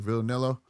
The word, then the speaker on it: Vianello: Vianello.